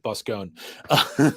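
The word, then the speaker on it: Boskone: i read ee smith i see those letters i pronounce it bus gone right right yes definitely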